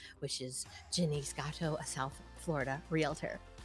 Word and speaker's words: Jenise: I am so happy that everybody got to meet you, Jenise. I'm so Jenise glad. rhymes with Denny's, but not.